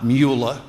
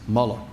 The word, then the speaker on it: Mueller: when America was attacked on September 11th Bob Muller and by the way his name is MAA not muula he's not a Nazi you may have your